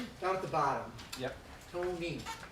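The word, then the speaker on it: Toney: Tony, Tony. like money.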